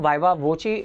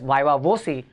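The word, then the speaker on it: viva voce: vawa or vaa voi this term V voi is this is how it is pronounced but uh in Indian subcontinent it is always called as vaa vosi anyways uh it's a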